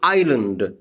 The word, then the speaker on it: island: In island, I-S-L-A-N-D, island, S is silent.